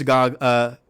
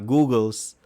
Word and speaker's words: goggles: Anyway, so you had the Finder's Goggles, not Googles. It's Finder's Goggles.